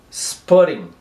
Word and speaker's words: spotting: Spotting. E esse ting aqui will be pronounced like ring.